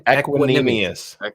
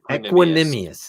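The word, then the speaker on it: Equanimeous: Aaron roders and Aquin how do we say his name equinus equinus it sounds like a a math equation yeah equinus equinus don't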